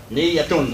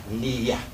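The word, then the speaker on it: نية: Niyyatun is the word, but we just said Niyyah and pronounce this as if it's Niyyah.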